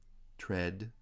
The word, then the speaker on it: tread: this was please don't tread there again here it doesn't really follow the rule i said a moment ago that it's spelled with two letters ea but pronounced e a lax vowel number six how much